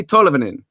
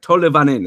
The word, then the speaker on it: Tolvanen: looked it up and made sure it's Eli Tolvanen. Something like that. It was like Tolvanen. It's like an extra syllable.